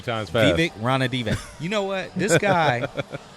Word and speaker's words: Ranadive: Oh, I got the correct pronunciation of the King's owner. Oh, you got it? Yeah, it's Vivek Ranadive. Ranadive. Sorry about that, Vivek. Yeah, say that 3 times fast. Vivek Ranadive.